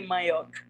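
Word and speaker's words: manyòk: In Creole, you would say mayok.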